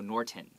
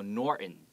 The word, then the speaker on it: Norton: americans sometimes do is we don't pronounce that t we don't go norton okay we go norton right means a norton